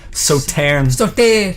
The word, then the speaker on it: Sauternes: Oh, the pronunciation of, the ish at the end, Sauternes. Oh yeah, actually I meant to remind myself of that. It should be something like Sauternes. Sauternes.